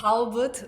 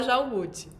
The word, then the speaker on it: Jalbut: eu escuto pronúncias variadas, assim, até Halbut, uma vez eu escutei e eu achei interessante. É Na época difícil da falar seu escola, nome. adotei por um tempo. Albut. É Jalbut, assim, a gente fala Jalbut.